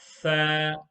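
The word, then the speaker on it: ثاء: Box number 4 is tha. Tha. The correct way to pronounce the letter tha in box number 4 is the tip of the tongue will touch the edge of the front 2 teeth here.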